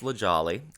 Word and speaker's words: La Jolla: they're great just like puppies it's pronounced it's pronounced lejali and uh they are uh stinky hilarious dumb